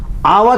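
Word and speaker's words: hour: आवा का H silent होता, मैंने कहा था अ इ ई उ ए ऐ ओ औ अंगा, इनसे उच्चारण हो सिंगुलर का तो एन का प्रयोग करेंगे। आवा में एच साइलेंट है, इसलिए एन आवा होगा।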